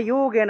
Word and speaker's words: যোগেন: প্রুক্তা ময়া নঘ জ্ঞান যোগেন, যুগেন আছে উচ্চারণ হবে যোগেন, জ্ঞান যোগেন সংখ্যান, অনুস্বার থাকায়, অনুস্বার শব্দের